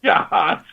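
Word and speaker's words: Yachats: It's the annual Yahats Agate Festival. This is Oregon's gemstone, after all. The town of Yahats, pronounced Yahats.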